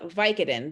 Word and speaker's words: Vicodin: have taken vicodin uh we call it vicodin the stress is on the first syllable the vi right um it's a three syllable word vicodin and the stress is on vi now if you were